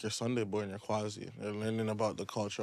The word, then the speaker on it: Kwazii: It's Quasi.